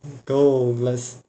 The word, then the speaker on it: Douglas: Íris, Amanda, Douglas. São palavras paroxítonas. Por quê? A sílaba cônica está na penúltima sílaba. Penúltima sílaba. Penúltima sílaba. Beleza.